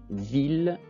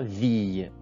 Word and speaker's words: ville: Ça se prononce ville, ça se prononce pas ville.